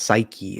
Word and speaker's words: Psyche: they tested it to that point and it's pronounced psyche appar psy psy yeah psyche oh yeah Psy